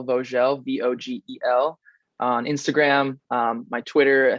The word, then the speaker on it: Vogel: It's a German name, so it is Vogel, but my dad is actually French and grew up in France, so they pronounce it Vogel, and that's just how it is.